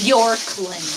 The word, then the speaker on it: Bjorkland: Terry Borkland from Arlington, Texas. I think the J is silent or not. Jorkland, but Jorkland. It's Bjorkland.